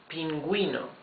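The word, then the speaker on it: pingüino: here is say that this U is going to be pronounced even if it's followed by an e or an I so this now is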